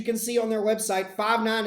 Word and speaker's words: Five9: Five9 was founded in 2001, and as you can see on their website, Five9 is actually pronounced and spelled F-I-V-E for the number 5 and then the number 9.